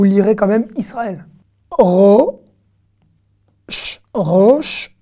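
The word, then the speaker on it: ראש: quand même israël euros roche 1 le alès ne se prononce pas ici il ya rien il ya en tout roche roche la tête roche a chat non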